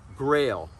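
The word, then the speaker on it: Grayl: system this is made by a company called grail and it's spelled g r a y l and uh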